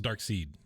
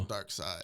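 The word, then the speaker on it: Darkseid: dark side oh okay is that how you say it I thought it was dark seed dark side is it yeah isn't it spelled like seed like German version no I mean there's no LOF Waffen no no no there's no there's no e on the end but it's still dark side oh okay all right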